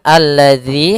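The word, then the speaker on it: الذي: Kemudian alladzi hati-hati dalam pelafalan zal di sini ada huruf dalal bukan huruf zai ya. Kebanyakan kita kadang-kadang membaca huruf dal dengan huruf zai misalkan alladzi.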